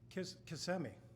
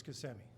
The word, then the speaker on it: Kissimmee: And she said, "I think you pronounce that Kissimmee." He said, "What?" "No, I think it's Kissimmee." She said, "Well, look how it's spelled.